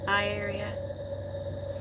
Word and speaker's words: Aria: It's pronounced I-area.